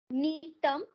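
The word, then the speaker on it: Gnetum: Number 1, netum, to pronounce as a neton.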